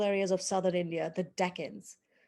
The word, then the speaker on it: Deccan: of southern india the deccans so deccan is an anglicized pronunciation of the indian word for south dakin or duction so that's how the